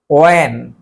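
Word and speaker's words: when: ওয়াই, ওয়ার, ওয়েন, হোয়েন না, ওয়েন, ঠিক আছে?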